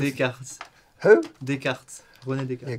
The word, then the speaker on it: Descartes: Lucas, what, mate, how do you pronounce it? Descartes.